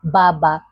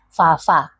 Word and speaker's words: baba: Yes, because B in the Gikuyu language is the fa sound. And you may find yourself saying baba. No, it is fa fa.